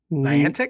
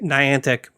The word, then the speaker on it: Niantic: their first going around Brian how do you pronounce the the name of the company Niantic Niantic Niantic they did ingress i n g re